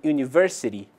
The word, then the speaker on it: university: ugly Ok já em University Unique e useful a letra u é pronunciada como em u ou seja há um som de consoante presente por essa razão dizemos